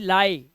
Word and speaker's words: lie: अब देखो, डी के बाद IE आया तो इसे पढ़ेंगे डाई, LIE लाई, झूठ बोलना, PIE पाई, TIE टाई, इस तरह से आप इसका उच्चारण, आई है वर्ड के लास्ट में लिखा